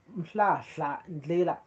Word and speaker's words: Ndlela: And so police block MRP march to no, I'm saying it wrong. It's Ndlela.